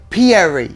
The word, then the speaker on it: Pierri: and I love your last name, Pierri.